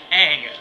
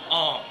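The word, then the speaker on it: Aang: for love of God it's Ang not on you could not he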